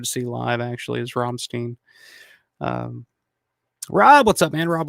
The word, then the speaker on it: Rammstein: How do you guys pronounce it? Rammstein or Rammstein? I'm gonna say Rammstein because it sounds more German.